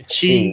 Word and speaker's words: Xi: after the meme critical of chinese president xi jinping did i say that right she yeah pronounced like like her so she oh which